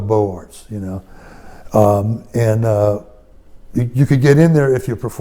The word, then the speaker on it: Beaux-Arts: It really, if you pronounce it in the French way, it would be Beaux-Arts, but we call it the Beaux-Arts, you could get in there if you performed.